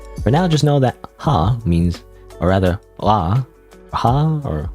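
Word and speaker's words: は: You pronounce it wah. By the way even though this is ha normally when it's used in a sentence by the way it's pronounced wah.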